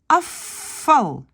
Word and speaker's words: afval: Ça devient afval. Le V devient F.